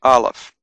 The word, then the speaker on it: Aleph: So that's Aleph. It's a silent letter, but it can take on a vowel sound, A, E, I, O, U, depending on the dots and dashes that are added afterwards.